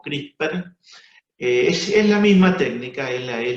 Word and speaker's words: CRISPR: Tengan presente que cuando se hable de CRISPR, hay que sacarle la última E y pronunciarlo como CRISPR.